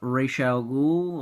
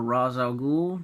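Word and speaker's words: Ra's al Ghul: city then we have rachelle ghoul or raz al ghul depending on how you want to pronounce it which he was a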